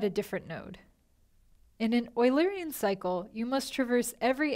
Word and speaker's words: Eulerian: Yes, it's pronounced Eulerian after the famous mathematician Euler.